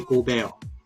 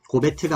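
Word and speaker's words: Rudy Gobert: 마찬가지로 프랑스 출신인 루디 고베어, 고베트가 아니라 고베어입니다.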